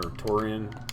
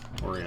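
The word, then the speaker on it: Tourian: Or Torian. Torian, I believe it is how it's pronounced.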